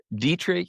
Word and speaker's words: Dietrich: Dietri Dietrich, which is spelled like diet, like a diet coke. D I T and then rich, the opposite of poor.